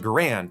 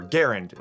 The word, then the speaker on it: Garand: been enjoying with the m1 grand or garand however you want to pronounce it it's kind of up